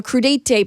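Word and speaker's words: crudités: We're like, give us the crudite award.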